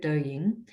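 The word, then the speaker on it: Douyin: listening in queensland who may not have heard dou ying um ryan maybe you can spell it out so we know how to spell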